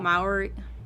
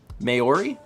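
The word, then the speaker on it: Māori: the Mari Fiore may or is how you pronounce that Maori people Maori did you correct me and then tell me that you don't know Maori marry Maori Maori was i right is it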